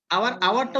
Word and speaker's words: hour: তাহলে আওয়ারটা উচ্চারণ কি হয়, এইচ ও ইউ আর, আওয়ার, ঠিক আছে, এটা কিন্তু এইচটা উচ্চারণ হয় না, এইচটা সাইলেন্ট থাকে, ঠিক আছে, আর অনেস্টের এইচটাও সাইলেন্ট থাকে।